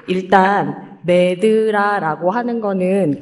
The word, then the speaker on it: MedDRA: 여기 지금 발표 제목에 보시면 아시겠지만, Medical Dictionary for Regulatory Activities에서 사실 D가 두 개인데, 앞에 구분을 하려고 MED 할 때는 ED는 소문자로 쓰고 뒤에는 DRA를 써서 이렇게 하고 MEDLA라고 읽습니다.